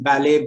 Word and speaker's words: ballet: There again, the t is silent, as in ballet, buffet, gourmet.